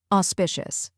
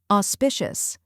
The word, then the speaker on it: auspicious: in cautious now let's put it all together auspicious try repeating after me auspicious now a little faster auspicious and at full